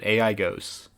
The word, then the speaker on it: AIGOS: That's how you pronounce it. AIGOS.